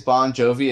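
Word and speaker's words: Bongiovi: John Bon Jovi, which actually his last name is Bon Jovi. It's just spelled with a G-I.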